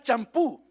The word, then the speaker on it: champú: acento en la U, porque es una palabra aguda y las palabras agudas se acentúan cuando terminan en N, S o vocal.